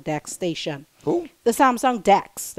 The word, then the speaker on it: DeX: called the Samsung Dex station who the Samsung Dex like deex it rhymes with something else but it's the Samsung